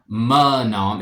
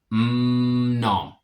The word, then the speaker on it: mnom: You pronounce the M, but it's not like a mnom. It's just mnom.